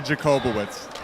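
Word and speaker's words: Jakubowicz: pronounce your last name it is actually jacobowicz it is actually jacobowitz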